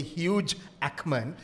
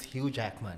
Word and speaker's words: Hugh Jackman: You don't say huge Ackman. It's Hugh Jackman.